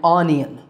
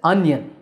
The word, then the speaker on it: onion: Now this is not an onion, it's an onion.